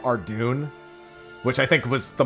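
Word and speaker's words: Ardougne: from the stalls in, Ardugny. And I know that's not how it's pronounced, by the way, but that's why I say it that way. Because I know I'll upset people by calling it Ardugny.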